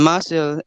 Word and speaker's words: muscle: never rhyme with soothe in muscle s and c is s in muscular it's s